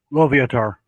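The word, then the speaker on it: Loviatar: saying that right latar litar how do you pronounce it Frank say it into my mic lotar okay lar the maiden of paint I don't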